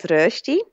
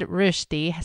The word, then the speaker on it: Rösti: It's called rösti, and it's similar to hash browns in the States.